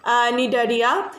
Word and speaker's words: Cnidaria: Next phylum, that is the phylum Cnidaria. Here C is silent.